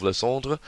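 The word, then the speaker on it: Lysandre: when you need it sorry to any french people listening for my pronunciation of lassonde i asked some french teachers at school and that was what they told me and this is my best approximation thereof and of course you've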